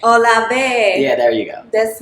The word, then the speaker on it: Olave: Olave. Olave.